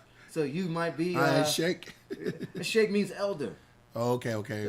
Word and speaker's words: Sheik: those terms it's really you don't say it like that you say shake right where they get